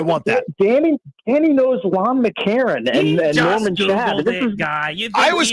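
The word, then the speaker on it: Lon McEachern: I do like that you called him Lon Mckan and he's Lon McCarron.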